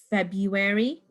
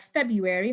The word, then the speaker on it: February: It's got that tricky R over there, which is silent. Most people do not pronounce it.